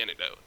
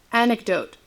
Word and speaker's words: anecdote: just how I say antidote how do you say antidote anecdote anecdote who the [ __